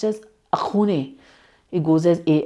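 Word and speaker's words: Axone: appeared in 2021 and the film which is pronounced as akun it goes as a x o n e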